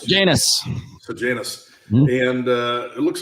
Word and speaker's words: Sejanus: How do you pronounce it? Janus. Sejanus.